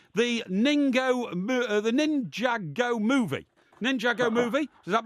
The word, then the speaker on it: Ninjago: You see, Now, I know it looks like Ninjago, but the correct pronunciation is Ninjago.